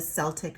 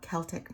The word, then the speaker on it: Celtic: And this is with the Celtic knot, or you can call it Celtic knot, depending on however you want to pronounce that.